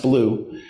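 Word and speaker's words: BLUU: black lives of uu or blue b-l-u pronounced blue blue is an organization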